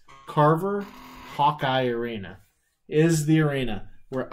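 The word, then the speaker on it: Carver-Hawkeye: unemployment line now but no Kalyn Clark at Hawker Carver excuse me I keep saying it wrong it's on me hello Tony how often are they carving it's it's Carver Hawkeye arena is the arena where Iowa men and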